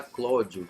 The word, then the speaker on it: Clódio: mesmo o seu nome, de Cláudios, que era o nome patrício, para Clódio, que era a pronúncia do povo, né? Então, esse Al de Cláudio acaba virando O na boca do povo, ficou Clódio.